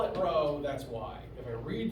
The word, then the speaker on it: rho: It is technically rho, spelled like this, like rhododendron. And so if I call it rho, that's why.